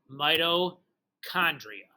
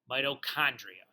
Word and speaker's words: mitochondria: okay so that's pronounced midochondria mitochondria the CH is a is a hard CH a not a cha like it's like the word chaos not like the word pitch or I don't know